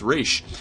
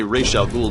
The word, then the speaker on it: Ra's al Ghul: He researched later and found out that it's actually pronounced Raish.